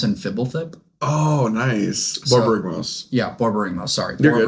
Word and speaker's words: Borborygmos: It's Barbigamos and Fibblethip. Oh, nice. Borborygmos.